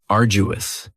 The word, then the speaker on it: arduous: Now, you don't hear that D sound that much. It's not very strong. It almost sounds a little like a J. Arduous.